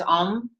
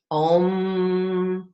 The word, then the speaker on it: Om: So if you can squeeze, and then the sound is om. Om. Okay. So squeeze and om. Om. So enunciating every syllable, letting it vibrate.